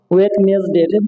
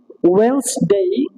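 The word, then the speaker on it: Wednesday: এরপরে যদি আমরা বলি যে আমরা ম্যাক্সিমাম লোক এখনো বলি ওয়েডনেসডে, এটা কি সম্পূর্ণ ভুল। ইট উইল বি ওয়েন্সডে, দুইটা উচ্চারণ আপনারা করতে পারবেন, ওয়েন্সডে।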